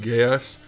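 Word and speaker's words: Geass: code geese or it I believe it's actually pronounced gas like gay ass but I don't think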